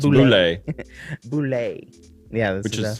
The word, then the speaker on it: boulette: It's a boulette. Pronounced boulette.